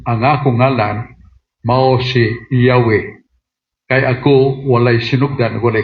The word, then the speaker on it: Yahweh: Nga ma-pronounce na to og Yahweh. So, muna nga ang pong nga Yahweh nasudlan na og A, I, U.